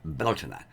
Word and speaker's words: Bealtaine: the first of may which is beltane or beltana in irish or at least in incarnate irish